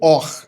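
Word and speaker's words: אור: Então, queridos, ó, a palavra luz se pronuncia como a palavra pele também se pronuncia como or.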